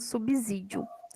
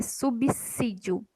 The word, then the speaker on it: subsídio: do Jornal Nacional falando subsídio mas aprendam isso hoje tá errado é subsídio ela tem o sonzinho de DS isso a gente vai